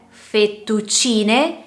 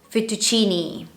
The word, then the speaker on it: fettuccine: Quindi se io leggo la parola italiana fettuccine, la giusta pronuncia è fettuccine, sarebbe invece una pronuncia sbagliata fettuccini, ok?